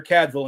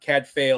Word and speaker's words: Cadfael: we pick up with a monk named Brother Cadville. And yes, I looked it up. That is actually how you pronounce his name. It's not Cadfael or Cadfell.